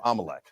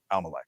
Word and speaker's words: Amalek: that talks about exterminating Amalek. So they're talking about. It's pronounced Amalek, not Amalek. Amalek, like Carrie Lake, Amalek, but it's actually Amalek, is how we pronounce it.